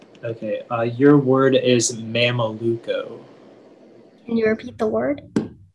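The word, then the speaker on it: mameluco: 161 all right okay uh your word is mama luco can you repeat the word uh the word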